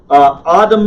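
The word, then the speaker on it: אדם: okay here we go Adam ah ah - mom notice the stresses on the last syllable except when it's not the stress is always on the last syllable of a Hebrew word except when it's not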